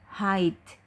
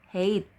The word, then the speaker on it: height: banget salah baca jadi tinggi badan itu bacanya hide bukan hate ya tapi hide kalau weight Benar Pakai